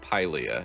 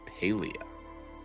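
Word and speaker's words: Paliah: It's not Paleia, it's Paleia.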